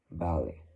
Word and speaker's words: ballet: this one too, because in both of them, the T is silent, but in French, again, it's a little bit more of of a smoother sound to say like that, like ballet, volley.